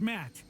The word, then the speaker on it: Matt: not an inch less the name's Matt the second T is silent really sure sounds like